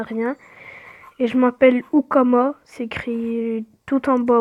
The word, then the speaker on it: Houkama: Et je m'appelle Ukama, c'est écrit tout en bas au milieu. Je sais pas si vous voyez ici. Ukama. Et puis voilà. Hein. Ah, Ukama, pour vous préciser, ça s'écrit Houkama. Et voilà.